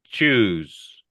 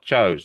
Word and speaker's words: choose: Okay, so just note this word is pronounced choose. It's not chose.